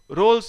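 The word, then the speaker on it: Rolle: Lagrange's mean value theorem, रोल्स theorem, कुछ लोग रोलीज theorem बोलते हैं, रोल्स थ्योरम बोलते हैं।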